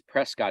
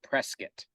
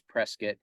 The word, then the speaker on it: Prescott: outside of the locals refer to it as Prescott Arizona but apparently you pronounce it Prescott um there's a long story behind that but apparently the correct pronunciation is Prescott because the guy that they named the community